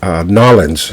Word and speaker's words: New Orleans: And very few people pronounce it Nolans is another way people pronounce it, but not too often.